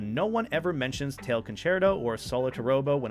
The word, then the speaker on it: Dexerto: Concerto is pronounced concerto.